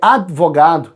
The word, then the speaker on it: advogado: A pronúncia correta é adverte, é advogado, é pneu, é ritmo. Só que a maioria das pessoas não falam assim. A gente faz o acréscimo desse i que não existe, mas no nível coloquial esse acréscimo aparece.